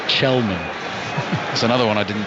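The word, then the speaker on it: Källman: There's going to be another little pronunciation lesson coming as well, because number 19, Benjamin Kelman, is actually pronounced Chelman.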